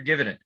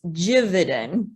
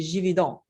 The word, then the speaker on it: Gividen: The real quick, it's Gividen. Gividen. I have been That's okay. mispronouncing your name for all this time. That's okay. It's common. It's French. The G sounds like a J. So if we were in France, it'd be Gividen.